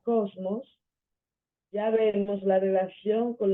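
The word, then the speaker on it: κόσμος: idioma español por ejemplo la palabra eh Goku no sé bien mundo sabiendo que se pronuncia Cosmos ya vemos la relación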